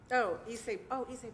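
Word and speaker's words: Ysaye: Issei Barwell, yes.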